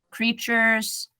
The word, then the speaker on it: creatures: Okay, so create. Like number 8 at the end, that's what the sound comes.